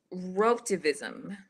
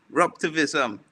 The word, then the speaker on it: Raptivism: What is Rotavism? Raptivism. Raptivism. Right, the pronunciation was almost correct there.